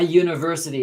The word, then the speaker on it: university: So a university is a consonant sound, not a vowel sound, okay?